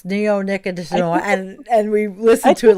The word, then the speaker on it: neonicotinoid: I Googled, how do you pronounce neonicotinoid? And we listened to it like 4 times. It's like a 7-syllable word, right?